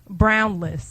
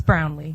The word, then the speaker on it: Brownlee: Winner is Brownless A dude? from Memphis, Tennessee. And now this is a serious letter. My name is Brownlee. It's Brownlee. It's spelled less on here.